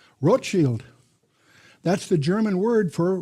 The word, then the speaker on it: Rothschild: Not Rothschild. That's mispronounced by most Americans. Rochield. That's the German word for Red Shield. Rochield.